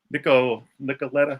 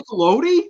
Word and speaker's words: Nicolodi: but it just Daria Nicoletta, how do you say her last name? Daria Nicolodi? Really? Yeah.